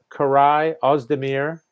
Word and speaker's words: Koray Ozdemir: we don't have Mark Knopfler, but we do have Koray Ozdemir.